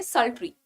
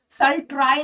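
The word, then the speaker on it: sultry: इसको कई लोग, जैसे TRY ट्राई होता है, तो ट्राई नहीं पढ़ना है. ठीक है? ट्राई नहीं पढ़ेंगे, क्या पढ़ेंगे? सल्ट्री. सल्ट्री. प्रोनाउंसिएशन में जब आप बोल रहे हो ना सल्ट्री को, तो ऐसे आवाज आएगी जैसे आप पेड़ के लिए बोल रहे हो. ट्री. ट्राई नहीं करना है, सल ट्राई नहीं बोलोगे.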